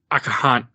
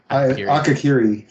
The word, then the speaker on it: Akakiri: And that brings us to our last episode of season 1 is Akahari? I can't pronounce it. Akakiri.